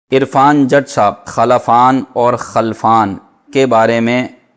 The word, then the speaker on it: خلفان: انہوں نے پوچھے ہیں، خلفان نام رکھنا کیسا ہے؟ ایک ہے خلفان لام کے زبر کے ساتھ، اور ایک ہے خلفان لام کے سکون کے ساتھ۔ تو خلفان لام کے